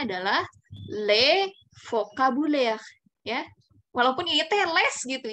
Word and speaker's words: les: yang seperti juga berlaku tapi dia esnya itu tidak dibunyikan walaupun di tulisannya ada esnya GPS ketika ada tulisan seperti ini maka dibaca dibacanya adalah lele vokabuler ya walaupun itls